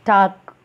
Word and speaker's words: talc: Okay, next, talc, TALK, talc, L is silent.